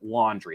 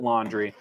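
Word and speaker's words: Laundrie: going to pronounce it laundry it's l-a-u-n-d-r-i-e so i'm going to pronounce it laundry um the boyfriend has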